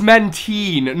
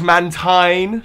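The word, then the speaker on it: Mantine: get my pronunciations wrong it's men teen not man time shut up Hermione I'm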